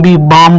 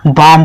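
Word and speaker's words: bomb: ये सारे चुप हैं इसको बी बी बम नहीं पढ़ेंगे इसको बम पढ़ेंगे यानी तक केवल पढ़ेंगे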